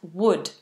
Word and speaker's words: wood: words wooden and wood so this is that short uh sound even though it's a double O wooden wooden and wood the same as I would do it I would chop the wood if I had an ax I would chop the wood exactly the same pronunciation hope that helped Reuben